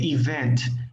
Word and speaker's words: event: Okay, so event, la sílaba tónica es en la segunda E, event.